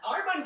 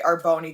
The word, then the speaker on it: Arbonne: what arbonne even was first off i pronounced it arbonne i didn't even know how to pronounce it okay our bony kind of sounds funny but was she recruited at